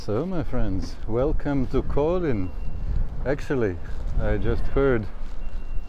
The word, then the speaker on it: Kolind: next step is so my friends welcome to Colin actually I just heard it's not pronounced colind but Colin and Kena Keno is the end